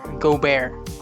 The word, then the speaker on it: Gobert: bonus french see incentives rudy gobert rudy gobert go bear the enemy up that didn't look pronounced r go bear unbelievable block here by